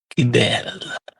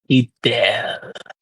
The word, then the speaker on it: Kibel: You may call me Kibel. Not a church bell. No, Kibel.